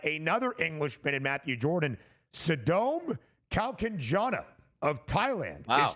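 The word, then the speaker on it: Sadom Kaewkanjana: Sadom Kalkanjana of Thailand Wow. is 3 under through 10. And I appreciate our producer extraordinaire, Joe Frieso, for finding out that pronunciation. Sadom Kalkanjana, 3 under par through 10 holes.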